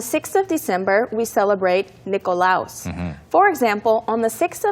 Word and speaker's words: Nikolaus: And next, for example, on the 6th of December, we celebrate Nikolaus. For example, on the 6th of December, we celebrate Nikolaus. 예를 들어서 12월 6일에 저희는 we celebrate Nikolaus라고 독일어식으로 발음을 또 해줬어요. Nikolaus 이렇게.